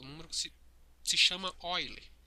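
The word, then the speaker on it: Euler: que se se chama oile se escreve eule mas se chama mas se pronuncia oiler que é o 2,718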